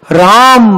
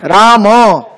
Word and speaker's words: राम: तो इस प्रकार से राम बनता है राम उसका उच्चारण राम नहीं होता है राम होता है म पूरा है राम में हलंत नहीं है नीचे राम राम पूरा उच्चारण होता है कृष्ण तो धन्यवाद हरे